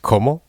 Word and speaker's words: Comeau: By the way, por la gente, like the fact that his name is pronounced Comeau.